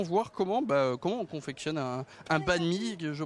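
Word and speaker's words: bánh mì: Est-ce qu'on peut justement voir comment on confectionne un banh mi? Je prononce bien un banh mi, c'est ça?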